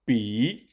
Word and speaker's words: 比: However, B, is the third tone, while B, is the fourth tone, so they are not entirely the same in pronunciation.